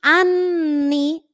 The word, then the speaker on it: anni: practicar esta doble nti anni hay anni hay trato de alargarla la pronuncio dos veces hago una pausa anti anni hay y